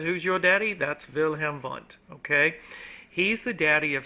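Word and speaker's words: Wilhelm Wundt: okay it looks like William W but it's pronounced vilhm V and vilam V is considered the father of psychology he's the father he's he's your daddy okay if somebody says who's your daddy that's vilam vont okay he's the daddy of Psych he's the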